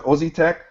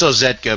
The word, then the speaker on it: Ozetka: I hope I pronounce it Ozzy Tech. Ozzy Tech. It's Ozetka, but everybody just calls me.